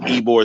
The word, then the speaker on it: Ybor: I'm hosting a bike night that Thursday night in Ybor City. So if you guys don't know anything about Ybor City, or Ybor, it's spelled, I think, YBOR, but they call it Ybor.